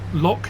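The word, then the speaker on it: lough: this track along so l u GH Irish for Lo lock Lake I think you still pronounced lock so this is loog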